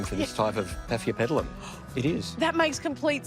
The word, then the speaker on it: Paphiopedilum: And this is the Paphiopedilum, am I saying it right?